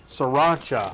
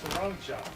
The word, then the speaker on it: Sriracha: no n in there there's no n Sriracha Sriracha sancha sancha no I'm thinking